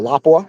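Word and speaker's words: Lapua: So this action uh this one particular is going to be head space for laa or lapa is the correct terminology pronunciation.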